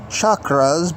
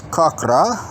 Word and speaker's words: chakra: cochras which are pronounced which are pronounced as chakras by most people but it's kakra and we're going to